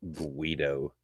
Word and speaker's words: Guido: Also, you mispronounced that slur. It's Guido.